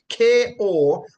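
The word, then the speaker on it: κοπιάω: transliterated to English as Kopiao, and it is pronounced kopiao, meaning to feel fatigue, and by implication, to work hard.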